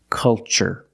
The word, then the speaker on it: culture: second word cultural also remember the first syllable is a short u like cup and up uh uh make a relaxed sound culture and cultural Let's test